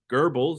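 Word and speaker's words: Goebbels: propaganda potential a fact not lost on Joseph Geral that's how you pronounce it the German propaganda Minister believing that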